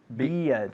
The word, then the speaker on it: beard: Así es igual, beard, Okay. con una D al final.